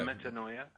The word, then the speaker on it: metanoia: metanoia? Yes. It rhymes with paranoia.